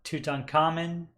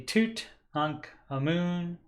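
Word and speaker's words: Tutankhamun: meant to mention that normally your American pronunciation of his name is going to be uh you know obviously King Tut or toot un common but it's actually toot an amoon which means living image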